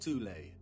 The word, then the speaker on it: Thule: Prior to the rise of the Nazi regime, there existed an occult secret society within Germany called the Thule Society, sometimes alternatively pronounced Thule, that had sub-factions within it.